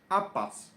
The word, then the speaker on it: habas: Pronounced habas.